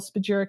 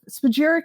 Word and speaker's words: spagyric: a different technique and we use an alchemical spagyric extraction, which isn't used by many. Wait a minute. Say that again. I missed that word. Alchemical spagyric extraction. How do you say it again? Spagyric. Spagyeric.